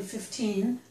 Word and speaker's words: fifteen: So if you didn't understand which number I said, then I would stress the second syllable to tell you 15.